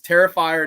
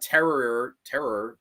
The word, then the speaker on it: Terrifier: Terrifier, not terror.